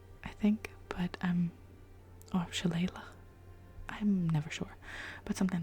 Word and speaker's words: shillelagh: some Gaelic at university, because it's a Gaelic word, I'm pretty sure. And I think it's shillelagh, I think, but shillelagh, I'm never sure, but something like that.